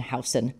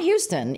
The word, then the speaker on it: Houston: that know New York it's on Elizabeth and house not Houston even though it's spelled Houston yeah right it's hon how it's like how do you know you're